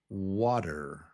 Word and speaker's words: water: water It's two syllables. water water water water water So the first syllable is wa wa It's up here. wa stressed And then the second syllable is der It's not even a t t It's really kind of a d d d, but it's just der water water water water Yeah, water.